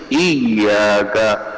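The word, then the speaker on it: إياك: پڑھیے ایاک. الاتیان بغنۃ عند نطق الیاء، یا کو پڑھتے وقت غنہ پیدا کرے.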